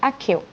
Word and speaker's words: Accio: In Harry Potter, there's a spell called Accio, sometimes pronounced Accio.